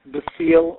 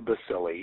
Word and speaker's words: Basile: Is that the correct pronunciation? Basile? Basile, or Basile.? Yes, no, it's Basile or Basile.